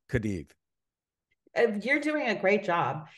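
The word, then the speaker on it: Cádiz: me how you pronounce kadid you're doing a great job it's like with a th it's almost like a th it's like a Kad it is season z's are pronounced with a slight th you know sound um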